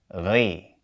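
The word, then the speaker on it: غِ: So, we would pronounce this letter and harakat like ghay. Ghay.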